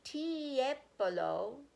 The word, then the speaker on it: Tiepolo: He turned to the right page and read, "Tipolo, say Tiepolo."